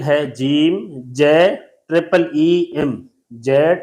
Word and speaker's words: جیم: Single long نہیں بلکہ triple long. Single لمبا نہیں کیا بلکہ 3 درجے ہم نے اس کو زیادہ لمبا کیا ہے. اس کا انگلش سپیلنگ ہے جیم جے ٹرپل ای ایم.